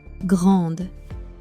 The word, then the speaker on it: grande: Grande, meaning big. The final E disappears. Grande.